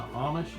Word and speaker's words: Amish: from her Garden or from the from the Amish is that how you say it yeah and